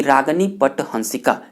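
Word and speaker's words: रागिनी पट हंसिका: देना चाहता हूं कि रागनी पट हंसिका यह इसका सही उच्चारण है यह राग हिंडोला की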